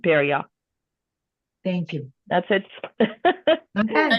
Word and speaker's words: Perrier: Perrier is like a Perrier like the drink, the beverage with a ya at the end, Perrier.